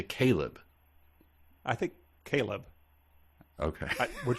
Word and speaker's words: Kaileb: I mean, yeah, I'm familiar with the name Kaileb, but there's an extra I in there, so we got to, all we could do is pronounce it as written. And it's Kaileb, right?